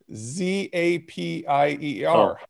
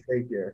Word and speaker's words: Zapier: Tell me the company that connects things that are SaaS companies starts with a Z, Zapier.